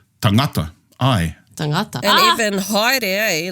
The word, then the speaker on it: haere: So there are many words like tangata, whereas the majority of the Pacific would pronounce it as tangata. Aye. Tangata. And even haere, eh? Like haere and aere.